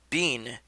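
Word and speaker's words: Bin: blue duck is named bean but it's spelled b i n and the i is pronounced e in japan and then peen p-i-n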